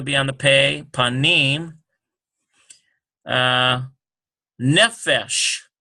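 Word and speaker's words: נֶפֶשׁ: Nefesh. Now we got that Muna there, so yeah, it's going to definitely be on that.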